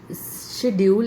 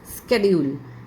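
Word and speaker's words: schedule: य कई बार लेकिन this is नॉट शेड्यूल इट्स स्केड्यूल स्केड्यूल सी एच को क की साउंड के साथ बोला जाता है यह सीच जो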